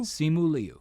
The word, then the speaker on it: Simu Liu: Simu Liu.